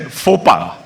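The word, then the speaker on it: faux pas: to him at one point the gentleman said fopa so the judge said fopa did you say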